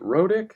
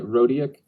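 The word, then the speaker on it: Rodiek: So if you're not familiar with SPQF, Grant, is it Rodick? Is that how you say it? Yeah, Rodiak. I think if you get a little more emphasis in it's Grant Rodiak. And I know there's not even an A in there, but it's like Maniac, Grant Maniac.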